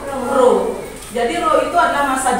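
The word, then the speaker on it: ρ: dilambangkan dengan seperti ini ini bukan peya Bacanya adalah Bro Jadi lo itu adalah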